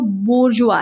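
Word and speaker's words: bourgeois: तो इसका जो प्रोनाउंसिएशन क्या है इसको याद कर लो, बोर्जुआ है। क्या है? बोर्जुआ है।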